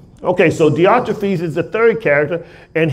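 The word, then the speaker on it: Diotrephes: anybody else got a better explanation it's better pronunciation theotrophies okay so theotrophes is the third character and he's the bad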